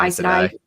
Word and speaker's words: Aes Sedai: But the first part is AES, which is the same as that I don't know how you say it, the Aes Sedai.